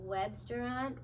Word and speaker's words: Webstaurant: And then Webstaurant, it's like web, like restaurant, but web.